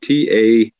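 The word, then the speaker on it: Tajín: And for those that don't know, it's called Tajin. It's how it's spelled.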